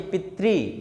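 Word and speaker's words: पितृ: आज से पहले हम क्या समझते थे? रे समझते थे। आज के बाद आपको रे नहीं समझना है, ये री की मात्रा है और इसका उच्चारण होना चाहिए पितरी।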